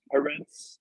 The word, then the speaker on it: Heretz: I'm joined with Heretz. Am I pronouncing your last name correctly?